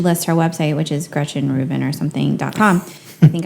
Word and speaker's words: Gretchen Rubin: and then she lists her website which is Gretchen Rubin or something calm I think I'm pronouncing that correctly yes you are and I